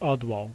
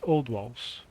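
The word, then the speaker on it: Oldwalls: to the Ottawa Bridge so I've been saying it wrong it's not odd wall it's old walls I I thought it was odd walls then I thought it was odd walls but now I know for sure it's old walls which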